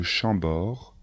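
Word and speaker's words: Chambord: châteaux les plus célèbres sont les châteaux de chambor de Blois de chenonau et le château de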